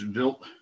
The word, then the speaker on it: Wild: comet built too so it's spelled wild wi ld but it's built uh because it's like german so we actually took